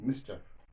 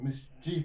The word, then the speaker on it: mischief: The poem unwan against idleness and mischief. Against idleness and mischief. This idleness and mischief. Most of the people pronounce the word wrongly. It's not mischief. It's mischief, right? It is mischief.